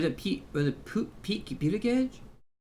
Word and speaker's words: Buttigieg: Was it Pete Buttigieg? It's Pete Buttigieg. It's Pete Hesketh is or I don't know how to pronounce his name.